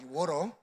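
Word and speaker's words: water: 지금은 이제 배럴이, 이게 혀를 꼬부려서 워터, 이게 물, 워터라 그러잖아요, 한국말로. 그때 못 알아들어요. 워러. 그 사람들이 이제 미국식 발음.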